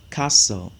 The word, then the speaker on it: castle: repeat after me a castle no castle okay so the t is silent a castle so as